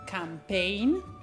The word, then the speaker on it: campaign: La G è di solito muta anche quando c'è il dittongo GN alla fine di una parola. Ad esempio, campaign, foreign, rain.